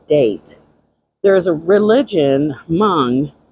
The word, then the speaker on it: Hmong: give you the date there is a religion Hmong h-m-o-n-g is a very unique religion where they usually are either Christian or are traditional version of that hom sorry guys Hmong and they have very many